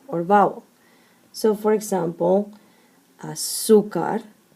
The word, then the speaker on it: azúcar: So azúcar ends in a consonant, therefore the strong syllable is the second to last, but because it does not end in N, S, or vowel, then you must mark an accent.